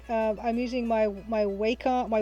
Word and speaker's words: Wacom: for this painting um i'm using my my waco my wacom that's how it's pronounced it's that's how it's supposed to be